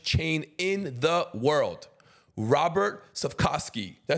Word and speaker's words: Cvetkovski: Today's guest is the owner of the third largest sandwich chain in the world, Robert Cvetkovski. Did I say that right? Yeah, you said it right. Cvetkovski.